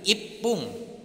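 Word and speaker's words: 一分: Kalau 1 menit berarti ipung double P.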